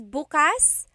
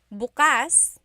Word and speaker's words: bukas: If you say bukas, bukas, the emphasis is on the second syllable, that means open. If you say bukas, bukas, emphasis is on the first syllable, that means tomorrow.